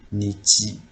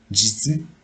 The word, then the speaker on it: 日: So in here for onyomi reading, we have the two sound for this kanji, nichi and jitsu. For the kunyomi reading, we have like hi, bi, ga.